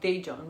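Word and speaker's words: Daejeon: position person de johon we would say de John but it's De John this is how they pronounce it um and uh it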